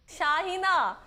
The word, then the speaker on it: शाहीना: Madam, ऐसा है नहीं, शाहीना।